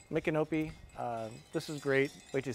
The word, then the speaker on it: Micanopy: the town and this is how you say it I keep screwing it up micanopy this is great wait